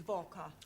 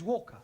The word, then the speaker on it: Walker: slave dri at is vka Walker what w is pronounced W your employer's name is Walker yeah vka do you